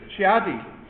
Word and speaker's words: Chidi: Shiadi. 3 syllables. Yeah, 3 syllables.